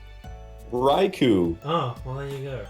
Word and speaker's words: Raikou: Raikau? No. Uh-oh. No. Oh, did I say it wrong? Raikou. Oh, well there you go. It's like erase the first R and A and put an H there.